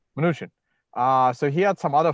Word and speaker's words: Mnuchin: Nunchin. I think it's Mnuchin. I say Mnuchin, yeah. Mnuchin.